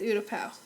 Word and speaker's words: Utapau: It's Utapau.